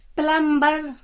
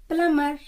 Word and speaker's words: plumber: प्लम्बर नहीं, प्लमर, PLUMBER, प्लमर।